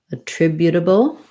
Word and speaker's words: attributable: and the dark l so a tribu and then this t because it's between it doesn't start a stressed syllable a tribu is going to sound more like a d a tribute bull attributable um contribute same thing we're